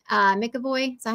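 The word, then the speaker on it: McAvoy: freaky James M uh mckoy is that how you say it uh was insane I'll say macavoy well there's no there's no a but I've always heard it pronounced mavo I don't know if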